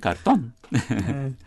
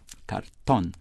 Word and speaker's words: cartón: of other words, like, carton. We say cartoon. Cartoon. In Spanish, it's carton. But we have that, I don't know if you got that from Spanish, but the Spanish emphasized the last syllable there.